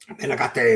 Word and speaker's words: Menegatte: Menegatte is how you say it, Ronald.